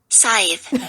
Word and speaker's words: Scythe: Because I can never pronounce it right. It's Scythe.